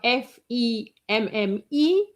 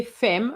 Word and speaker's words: femme: We have f e m m e. We don't say femme, we say femme, like an a.